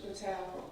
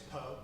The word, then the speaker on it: Po: did speak to Mr patau is I'm s am I saying it right that's okay it's po po I did with Mr